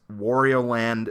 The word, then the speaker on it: Wario Land: full game correctly but the way this game is pronounced is Warrior land Super Mario Land 3